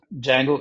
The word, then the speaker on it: Django: And if somebody is thinking why I'm calling it as Django and not Django, D is silent. And Django is a very, very famous framework.